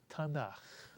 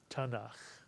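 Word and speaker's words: Tanakh: the Jewish Bible and the acronym is pronounced tanak tanak and when you put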